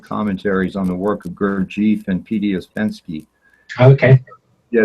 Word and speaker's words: Gurdjieff: I say Gurdjieff. Some people say Gurdjieff.